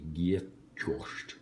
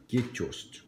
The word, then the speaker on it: Gjetost: Now, I don't know how to pronounce what it is. J-G-E-T-O-S-T. Gjetost. Gjetost. Gjetost.